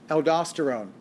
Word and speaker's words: aldosterone: to make even more aldosterone now you'll hear aldosterone aldosterone and you'll hear it pronounced aldosterone i say aldosterone now aldosterone is the